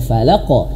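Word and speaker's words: فَلَقْ: Sehingga ketika falaqo dibaca falaq. Qul auzubirabbil falaq. Nah, jangan sampai nanti seperti itu ya. Huruf qof pantulannya itu harus tebal. Falaqo.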